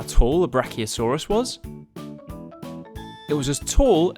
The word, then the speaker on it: brachiosaurus: all about brachiosaurus how do you say that again bra oh saw russ do you know how tall the brachiosaurus was it was as